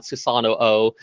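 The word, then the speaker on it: Susanoo: real world application it's susano o with two o's but it's uh the O's are pronounced separately rather than being a doubled o uh I'm going to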